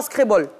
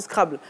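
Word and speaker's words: Scrabble: fan de scrable d'ailleurs on dit pas screbol bon ça dépend le scrable là ça ça c'est c'est une prononciation française voilà Scrib là maintenant ça c'est une intonation anglaise VO anglaise bon en français quand on parle on dit scrable fais un coucou à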